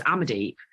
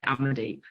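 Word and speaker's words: Amandeep: my name correctly because if you can say samantha you can say i've gone deep it's as simple as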